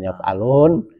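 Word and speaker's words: يفعلوا: Kalau yaf'alun itu wama yaf'alu bukan yaf'alun ya.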